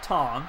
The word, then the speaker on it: Tong: It's pronounced Tong, okay? Like T-O-N-G.